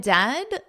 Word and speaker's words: dead: And dead, it said like bed, not bead. Read this out loud. For goodness sakes, don't call it deed.